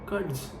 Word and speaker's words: Kurtz: कर्ट्स ये स्पेलिंग इसका KURTZ है, पर इसका बोलना बहुत हार्ड है, इसमें इसको कर्ट्स बोला रहा हूँ कब से।